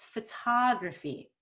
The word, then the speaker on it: photography: want too much energy on pho because i want to have contrast between pho and tah so it's photography not too much fun more difference is better photography photography yes how